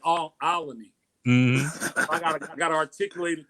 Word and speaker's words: Olney: Make sure I say it right. Olney Avenue. Be like Olney.